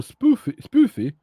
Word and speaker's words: Spoofy: And one thing I was because not spoof, no spoofy. Uttala U och inte O, so it's Spoofy, okay.